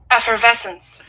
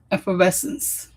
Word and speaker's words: effervescence: So how do we pronounce this? Effervescence. Ephes I was a little bit close I think. Effervescence. Ephrovescence.